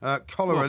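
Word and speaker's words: Köllerer: Cholera, not as in the disease. I was going to say, It's spelt with a K and two L's and an ER at the end, but it's pronounced cholera.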